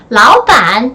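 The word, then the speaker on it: 老板: 역시 삼성과 삼성이 함께이기 때문에 앞에 이성으로 발음되고 뒤에는 삼성으로 발음됩니다. 사장님 하면 라오반 이렇게 말씀을 드려주시면 돼요.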